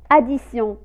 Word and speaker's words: addition: s sanaa rabat 26 la lit la lettre t se prononcent s première exemple addition addition addition voyez à